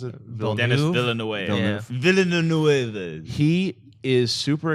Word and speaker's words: Villeneuve: Both Villeneuve, is that how you pronounce it? Dennis Villeneuve.